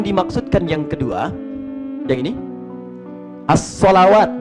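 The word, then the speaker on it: ٱلصَّلَوَات: Kalau yang dimaksudkan yang kedua, yang ini, as-salawat bacaannya. Alif, lam, sod, lam, waw, alif, ta, maftuhah. As-salawat dibacanya.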